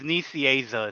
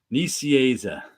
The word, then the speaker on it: Nicieza: And it's Nicieza is how he told me how to pronounce it. I learned how to pronounce it 30 years ago, and I keep forgetting. Nicieza.